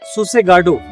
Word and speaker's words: Sossegado: Sossegado. Written as Sossegado, but pronounced as Sossegad. Sossegado.